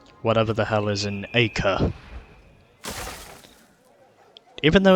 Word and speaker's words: Acre: get on with whatever the hell is in Acre. Even though it's pronounced Acre, I just prefer to say Acre.